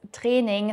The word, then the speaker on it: Training: And you can probably tell the word das Training stems from the English training. We just pronounce it the German way.